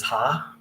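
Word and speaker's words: ห้า: The number five is ha. It's pronounced ha.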